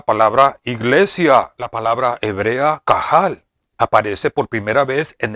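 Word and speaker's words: קָהָל: La palabra hebrea, que se pronuncia kahal, es equivalente a la palabra griega, que se pronuncia eclesia, que significa llamar juntos, o reunirse, juntarse, congregarse.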